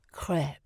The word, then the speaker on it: crêpe: No, WPC, it's French and pronounced crêpe.